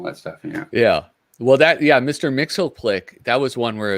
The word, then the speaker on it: Mxyzptlk: Mxyzptlk, that was one where it was like the